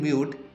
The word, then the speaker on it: mute: In mute, E is silent and the word mute is only producing one vowel sound.